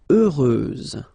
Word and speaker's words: heureuse: Then heureux, doesn't change, heureuse, final S, not pronounced.